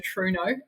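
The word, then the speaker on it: Trueno: So my first road car was a Toyota Truno, as we pronounce it in New Zealand.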